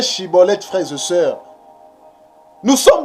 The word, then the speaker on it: Schibboleth: Donc si tu n'arrives pas à bien prononcer Shiboleth, tu prononces Siboleth, cela veut dire que tu es un étranger.